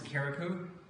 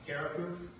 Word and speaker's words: Carriacou: The island is Carriacou. It's just north of the main island of Grenada. And some people are saying it's pronounced Carriacou, which is probably true with the accent.